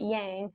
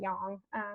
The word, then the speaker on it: yang: it's a little Yin and I love you pronounce it yang I even my cat's name is yang because he's crazy but it's actually young so it's man and young and that's kind